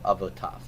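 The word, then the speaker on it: אבותיו: So when the yod is silent, we don't transliterate that? You will transliterate it because you're representing what's in the written system, but you're not going to pronounce it.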